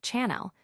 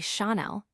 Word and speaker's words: Chanel: The elegance of Chanel is often marred by misprononunciations like Chanel when it should be Chael reflecting its French origins.